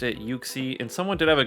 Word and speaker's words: Uxie: pronunciation because he invited me into uh an uxie raid so the pronunciation of today will be uxie now i looked up online i could not